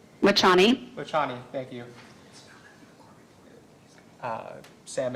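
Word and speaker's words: Vachhani: note at the end of the i can't pronounce that doctor's name is that correct lachanie thank you sam it's v-a-c-h-h-a-n-i do you see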